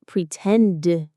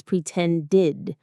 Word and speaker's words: pretended: For a word that ends in a t or d sound, like pretend or want or need, we add the full id sound. So it's not pretend, it's pretended, wanted, needed.